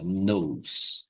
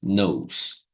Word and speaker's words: know: know I don't know ó pessoal eu pronúncia aqui ó simplesinha tá não precisa falar as não precisa falar esse T nem esse k aqui ó então fica